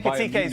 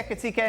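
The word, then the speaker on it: Ekitiké: How do you say Ekitike in a different way than I say it, Jan? How do you say it? Yeah, I'm not sure that I'm right, but Ekitike, I would say that.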